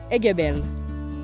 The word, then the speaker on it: Aiguebelle: Aiguebelle. I've been saying it right. Okay, Aiguebelle National Park.